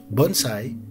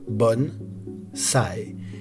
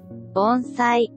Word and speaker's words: bonsaï: Si vous essayez sur Google Traduction en anglais, italien, espagnol, arabe ou n'importe quelle autre langue, vous entendrez toujours la bonne prononciation japonaise bonsaï.